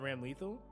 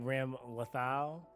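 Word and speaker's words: Ramlethal: So it's more like Ram Lethal. That's yeah. In Etheria, humans and horses are just ordinary beings. I just want to say I said that before you typed it, okay? That's yeah, like menthol, yeah.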